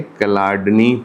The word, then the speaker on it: Chladni: लिखते हैं सीएचए लेकिन आप इसको पढ़ने के लिए ऐसे पढ़ेंगे क्लाडनी और इसने बेटे एक